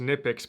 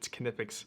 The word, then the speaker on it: Knipex: I always thought it was just Nipix, but I went and watched some of their YouTube videos, and apparently you pronounce the K, it's Canipix.